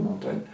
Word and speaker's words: Montaigne: Je pense que la prononciation Montaigne est un effet de graphie. On devait prononcer, c'est à 70 km de chez nous, on devait prononcer Montagne, qui compose en 3 livres des essais, mais des expériences.